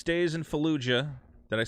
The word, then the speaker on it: Fallujah: Rebooted War Crime Simulator 6 Days in Fallujah.